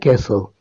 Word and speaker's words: castle: she met a sand castle in this sentence Castle is a word which has a silent letter that is T number fifth Ali is